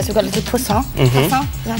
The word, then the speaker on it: poussin: Chicken is my favourite thing ever, so we've got a little poussin. Poussin? Is that saying it wrong? Poussin, yeah.